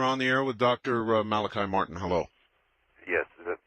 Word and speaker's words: Malachi: And I had a question, but I just was kind of really thrown off by something the Father Malachi, is it? Yes. Okay, pronounced it right.